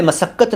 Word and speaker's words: मशक्कत: उच्चारण शुद्ध होने लगेगा मैंने मशक्कत नहीं बोला मैंने बोला मशक्कत मशाल अर्थ हिंदी में